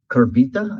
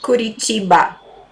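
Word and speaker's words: Curitiba: I'll actually be in Brazil in June at a conference in Kurbita, I think. Is that is that how it's pronounced? Kuricha.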